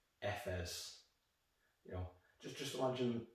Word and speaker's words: Efes: pretty much everything about the world and it's pronounced fs you know just just imagine the letter f